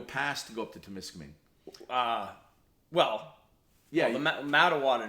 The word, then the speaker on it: Temiskaming: Incidentally, it's pronounced Temiskaming. Yeah, Temiskaming, that's right.